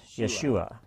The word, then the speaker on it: Yeshua: Well, they put the emphasis on the second syllable, Yeshua.